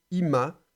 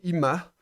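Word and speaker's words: עִמָּהּ: achalta, tu as mangé, ima, donc c'est im avec le A, avec le mapik, donc on prononce légèrement le He final, donc ima, c'est avec elle.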